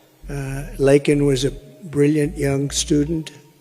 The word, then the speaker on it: Laken: brilliant 22-year-old nursing student Laken Riley you know Laken very well now and after of prodding him Biden couldn't pronounce her name he said uh he said Lincoln Lincoln Riley and Lincoln R was